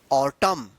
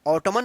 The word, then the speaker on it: autumn: ऑटमन मत पढ़िएगा, N silent रहता है।